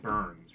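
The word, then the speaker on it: Byrne: You don't mean David Burns, right?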